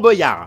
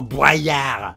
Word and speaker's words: Boyard: Et d'un coup, bon ça date déjà un peu, mais les gens se sont mis à l'appeler Fort Boyard. Bordel, mais c'est moche! Arrêtez ça! Alors certes, c'est peut-être plus logique de prononcer ça comme boyau, mais l'esthétique, vous en faites quoi?